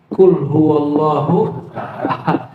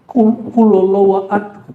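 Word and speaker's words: قل هو الله أحد: Qul huwallahu ahad. Bukan sejuta umat. Qul huallahu itu nonmuslim. Chines itu apa, Pak? Qulallahu ahad. Apa gitu dia bacanya? Qulallahu ahad. Lucu-lucu mereka bacanya.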